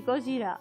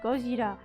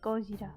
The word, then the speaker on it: Gojira: reunite here oh my Godzilla supposed to be Gojira oh yeah I have heard it burn and says Gojira why why it was it was Luna from